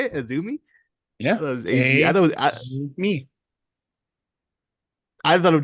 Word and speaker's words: AZM: amm girl I didn't know her name is pronounced aumi I don't know how that how that works but I I was surprised by that that's how you say it aumi yeah me I thought it was just azm